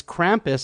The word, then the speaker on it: Krampus: here for a second, is Krampus, or Krampus, wherever you're from. Some people call it Krampus. It's Krampus is how I pronounce it.